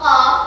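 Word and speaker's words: ق: Walaupun ini hanya bacaan hanya huruf qaf, tapi karena ini termasuk mad lazim, mad itu panjang, maka ya kita bacanya orang qaf gitu enggak, tapi dipanjangkan 6 harokat. Qaf ya, 6 harokat atau 6 ketukan.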